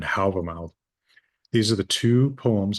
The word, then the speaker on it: Hávamál: Uh, I use modern Icelandic pronunciation here because it's what people are familiar with, Völuspá and Hávamál.